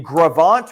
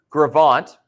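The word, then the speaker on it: Gros Ventre: Now, in a larger scale example of this happening, in Gravant, Wyoming, okay, which is spelled like that, Grosventree, okay, T-R-E, I think I said 2 E's there. Gravant, there was a river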